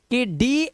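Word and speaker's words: could: अब यहां पर इस रीडिंग रूल को देखो अब जरा ध्यान से, कह रहा है कि डी, एफ, के और एम से पहले अगर एल आएगा तो हमारा एल लेटर जो होगा साइलेंट होगा।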